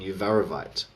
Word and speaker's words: uvarovite: They are tsavorite and uvarovite. Tsavorite is spelled Tsavorite, Tsavorite, and Uvarovite is spelled Uvav.